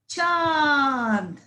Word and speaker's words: चांद: ठीक है बच्चों, च प्लस आ, चा, अन, चा, अन, चान, अन, द, चा, अन, द, चा, अन, द, चांद, चा, अन, द, चांद। अभी आप समझ गए ना बच्चों चंद्र बिंदी का उच्चारण कैसे करते हैं।